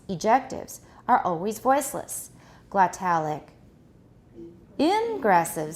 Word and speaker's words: ingressive: Which part do we stress? For example, egressive, ingressive. For these two, what are we going to stress? Normally it's egressive, ingressive. However, when we contrast them, what do we do? Egressive and ingressive. We move the stress so the listener can hear which part is contrasting.